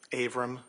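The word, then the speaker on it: Avram: Abram.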